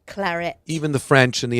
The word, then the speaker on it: Claret: clet Claret it's not Claret no it's Claret it's actually you have to pronounce the T Claret even the French and